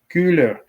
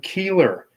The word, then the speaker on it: Koehler: that is William or Bill cooler but is that's the German pronunciation you got people on YouTube calling him Keeler I am one of